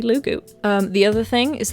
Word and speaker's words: Loogootee: hilariously pronounced lou goot obviously it's not lou goot but in my limited scope of knowledge that's the best i could come up with at the time so until the war has been fought over how to pronounce lugoot it's gonna be lugu um the other thing